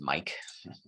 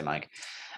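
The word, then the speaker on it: MAEC: on each of these this is usually pronounced mic i know it looks like make but whatever they say mike um the whole point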